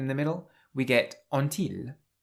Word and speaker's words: ont-ils: the middle, we get ont-ils. So the t on the end of on is pronounced here because the next word starts with a vowel.